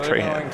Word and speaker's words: Trejo: close one yeah Danny Trejo there you go man that's that's exactly you just have to have a little bit of a Hispanic Flair and then you can pronounce it like Trahan to advance okay and